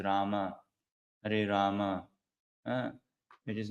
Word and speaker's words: Rama: Actually, Sanskrit speaking, it is not Ram, Ram. It is Rama, Hare Rama.